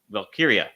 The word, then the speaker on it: Valkyria: I thought that was really good, and I thought it did put Valkyria. Did I say it right? You did. See, Valkyria.